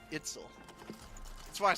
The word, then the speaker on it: Itzel: oh, dang it, I keep saying her name wrong. Itzel.